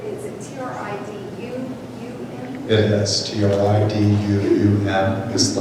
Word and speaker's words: Triduum: How do you pronounce that word? Triduum? Triduum. Is it T-R-I-D-U-U-M?